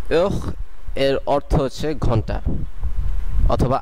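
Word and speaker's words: heure: এরপরে যে বর্ণগুলো আছে সেগুলোর উচ্চারণ করা হয়, যেমন এই ক্ষেত্রে ওহ। আপনারা যদি আরেকবার ভালো করে শুনেন এটির উচ্চারণ হবে ওহ, তার মানে এটির উচ্চারণ ও থেকে শুরু হচ্ছে এবং আশটা সাইলেন্ট আছে। ওহ এর অর্থ হচ্ছে ঘন্টা অথবা আওয়ার ইংলিশে।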